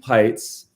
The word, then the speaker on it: Pites: Today I'm with Chelsea Pites, Rhymes with Lights.